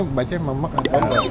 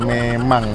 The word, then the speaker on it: memek: Bacanya memek, memek ya. Bukan memang.